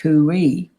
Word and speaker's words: Khuwi: But the Egyptians also have a word which means to protect, and that's spelled Khuwi, pronounced Kui, but in the translation of the Egyptian, it's got the same sound value but not the same spelling.